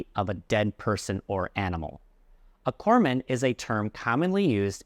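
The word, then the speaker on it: corpsman: So remember, it's corman, not corpsemen.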